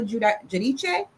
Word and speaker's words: Giudice: And like the one housewives that went to jail, Teresa Giudice. See, I say her name right. I say it Italian.